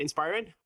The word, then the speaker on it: Inspiren: their company in inspirin is that how I pronounce it guys is that right inspirin that's right yeah so welcome John and uh